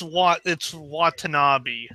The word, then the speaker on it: Watanabe: And by the way, it's Watanabe. Watanabe, okay.